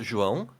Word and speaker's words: João: Joao? Yeah, you can. It's actually pronounced João.